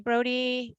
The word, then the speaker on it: Brody: And it looks like last name Brody. I hope I'm pronouncing that correctly.